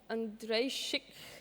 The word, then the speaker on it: Andrejczyk: Andrejczyk. Chic. Chic. Chic. Like chic.